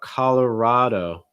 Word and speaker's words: Colorado: third syllable and again you'll see that strong o sound at the end auto notice that that d is not really a super strong d either it's more like a fast d sound same thing that we